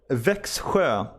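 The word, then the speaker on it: Växjö: No, it is Vexjo. Yeah, I was right the first time. Yeah, Vexjo.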